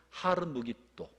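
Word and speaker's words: 하르므깃도: 막 만들어내지만 다 엉터리입니다 이거는 무기 또의 산이라는 말을 헬라어 표현으로 사용해서 하다 보니까 아마겟돈이라 되었고 원래 발음으로 표현하면 하루 무기 또 전혀 다른 말이잖아요 찾아봐야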